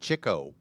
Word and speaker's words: Chico: that guy was and we always thought it was Chico right I've watched interviews with dick cavity he pronounced it Chico Chico was The Ladies